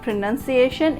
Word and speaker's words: pronunciation: it's coming as sun but it's not the correct pronunciation it's pronunciation not pronouncing it's true pru pra